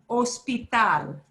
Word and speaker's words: hospital: Hospital. Hospital. And this is where you want to say hospital. No, hospital, hospital, Hospital.